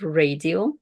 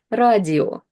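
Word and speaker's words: радио: So the first word we have here is radio, radio. And I bet you can recognize it, that it's radio.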